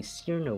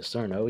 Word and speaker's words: Cirno: Now, this pronunciation accounts for the fact that this is a word in English as well as Japanese origins. Chur-no is simply too long or too unnatural, or the simple spelling is C-I-R-N-O. Of course, like many loan words, we can't exactly ignore the origins like those who say it's Cirno. This is why Chur-no is the best pronunciation. It's based on the Japanese pronunciation, reasonable for the English spelling.